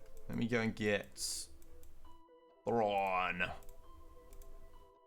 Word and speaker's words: Thrawn: Thrawn. There you go, I pronounced it without an F.